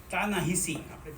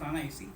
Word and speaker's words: Ta-Nehisi: His last name is pronounced as Ta-Nehisi. Ta-Nehiri, Ta-Shahi kahiye Gujarati man. Ta-Nehisi kehvaye. His real pronunciation is Ta-Nehisi.